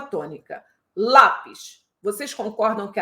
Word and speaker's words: lápis: posição da sílaba tônica lápis vocês concordam que a tônica é a penúltima sílaba eu não falo comprei um lápis Eu não falo um lápis eu falo lá então já sei que